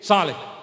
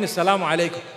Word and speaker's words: Assalamu alaikum: But unfortunately, people today say, Salih. Have you heard them greeting you? Salih. What is Salih? They say, no, I mean Assalamu alaikum. So say it properly. It's a blessed prayer for me. Say Assalamu alaikum.